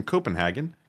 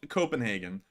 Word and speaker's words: Copenhagen: Not with such an emphasis on the HAG, but something like that.